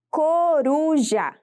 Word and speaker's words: coruja: A palavra coruja possui 3 sílabas e a sua sílaba tônica é a sílaba ru, ou seja, a penúltima sílaba, e por isso ela é classificada como paroxítona.